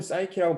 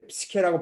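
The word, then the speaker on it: Psyche: 거꾸로 그러면 사람이 신이 된 경우는 이제 영어로는 사이키라고 발음하고 한글로는 이제 스케라고 발음하는 이제 이 여잔데 여신이 되죠.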